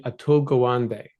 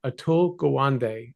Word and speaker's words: Atul Gawande: Uh, your clinicians almost all know about a book called the Checklist Manifesto by a surgeon named Atul Gawande.